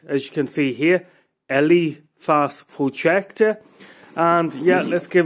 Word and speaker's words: ELEPHAS: It is the ELEPHAS, that's how I pronounce it, as you can see here, ELEPHAS projector.